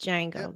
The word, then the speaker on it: Django: right yes it's just Jango though and and and Boondocks oh the D is silent UNC Ruckus Uncle Ruckus